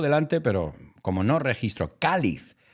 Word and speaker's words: cáliz: Yeah, y lo veo aquí, lo tengo delante, pero como no registro, cáliz, with an accent on the A.